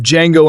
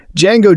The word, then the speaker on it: Django: The D is silent, though the name of Django Unchained's aonomous gunslinger sounds